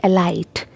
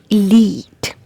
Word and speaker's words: elite: next word is this most of the people pronounce it like a light but it's not a light it's elite elite elite not a